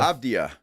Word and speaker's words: Avdija: He is not Adiba. Avdija. There he is. Avdija. I maybe. It might be Adiba. It Well, he could be, but we don't know that. It is Av- Avdija. Uh-huh. I went I went to the Portland Trail Blazer pronunciation guide, and that's how he says it.